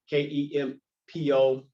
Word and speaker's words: Kempo: So our roots are founded in Kempo, Kempo. Other places you'll see it spelled with an N, but the roots of our